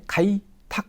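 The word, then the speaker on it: 開拓: 다 카이 내주는 거죠이 척자 여기서 탁으로 소리가나요 그래서 개척을 넓힐 척자 카이탁 라고 3번으로 발음하세요 됩니다 그다음에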